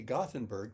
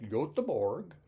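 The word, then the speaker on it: Göteborg: we pronounce your City gothenberg to this Swedish waiter uh how do you pronounce it and he said something like yorg so we say gothenberg and they say yorg uh where do we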